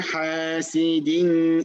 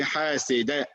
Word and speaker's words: حاسد: This one, this dal, why didn't I say وَمِن شَرِّ حَاسِدٍ? I mean, the way I said the last one.